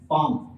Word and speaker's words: palm: Let's suppose मैं आपके सामने एक वर्ड लिख रहा हूं पाम, PALM, पाम। तो इसमें हमारे पास L साइलेंट है, L हमारे पास साइलेंट है, तो फिर हम L को नहीं लिखते, फिर हमारे पास दो स्ट्रोक रह जाती हैं P और M।